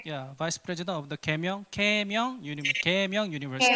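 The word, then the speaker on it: Keimyung: Yeah, Vice President of the Kaemyeong University. Kaemyeong.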